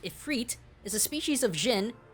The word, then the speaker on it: Ifrit: Ifrit, pronounced Ifrit, is a species of jinn, get it, Zenyatta, from Islam who were not necessarily good or evil.